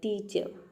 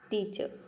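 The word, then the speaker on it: teacher: और जब आप साइलेंट रखेंगे यहाँ पे आर को, तो जब आप वर्ड को प्रोनाउंस करेंगे तो आर का साउंड अपने आप आएगा, यानी कि र का साउंड ऐसा लगेगा कि आपने र को प्रोनाउंस किया है, आर को प्रोनाउंस किया है। जैसे कि देखिए मैं प्रोनाउंस कर रही हूँ टीचर, अब यहाँ पे हम आर को प्रोनाउंस नहीं कर रहे हैं, टीचर, टीचर इस तरह से प्रोनाउंस करते हैं।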